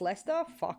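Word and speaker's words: Leicester: Okay, it's pronounced Lester.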